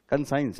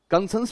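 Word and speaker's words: conscience: कंसाइज, yes, sorry मेरा pronunciation problem है। क्या क्या है? कंसाइंस है, बस दैट्स कंसाइंस। हालांकि कंसंस भी बोल सकते हैं।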